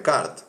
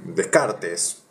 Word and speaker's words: Descartes: error de esto después vo a hablar de Kart no René Descartes Sí así se se escribe de car cerca de 2000 años después